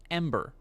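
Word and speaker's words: EM8R: uh which is I believe supposed to be pronounced Ember for those who don't remember Mark Kern has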